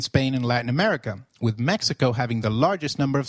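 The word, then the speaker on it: México: Did you notice that the X in Mexico is pronounced as H?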